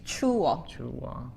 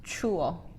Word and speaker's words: 추워: And this has to be two syllables. 추워. 추워.